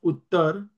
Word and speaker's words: उत्तरा: फॉ on behalf of उत्तर द सन ऑफ the king. यहां पर उत्तरा है। ए के ऊपर मार्क है। लाइन उसका मतलब है आर A means are आर रा प्रोनाउंस किया जाएगा।